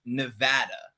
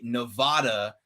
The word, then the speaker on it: Nevada: about nevada is that it's correctly pronounced nevada most people will say nevada that are from the east coast and if you say nevada in nevada they will shoot you it is like the worst thing that it's like it's